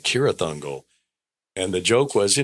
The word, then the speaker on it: Cirith Ungol: cuz in the books, it's pronounced like with a K like Cirith Ungol."